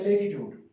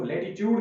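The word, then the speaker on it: latitude: होता है सबसे पहले लेटीट्यूड। लेटीट्यूड हम किसको कहेंगे, जिसको लेटीट्यूड भी पढ़ सकते हैं, लैटीट्यूड भी पढ़ सकते हैं, दोनों प्रोनाउंसिएशन इसकी जो सही है।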